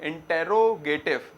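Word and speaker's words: interrogative: Spelling तो क्या है? इंटेरोगेटिव, मगर प्रोनाउंसिएशन में इंट्रोगेटिव बोला जाता है ज्यादातर।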